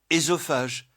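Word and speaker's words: œsophage: Leur correspondant français s'écrit avec la double voyelle o mais prononcé etip enologie esophage fétus. Mais la prononciation e est courante en particulier dans fetus feutus par confusion avec le second cas.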